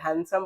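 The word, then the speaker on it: handsome: गए आप लोग ठीक है तो डी यहां साइलेंट होता है हैंडसम पढ़ा जाता है।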